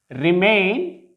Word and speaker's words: remain: Now the stress is on the last syllable here, and we shall pronounce it as begin, not begin. Begin, remain, prefer, not prefer, prolong, regard, forget, not forget.